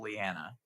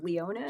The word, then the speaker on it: Leona: And we'll start with the end of the table, Leanna. Hey, hi, Gabe. Just so you know, I pronounce my name Leona.